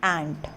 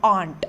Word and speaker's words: ant: A-N-T, ant. The right pronunciation is ant, not aunt. Aunt is A-U-N-T.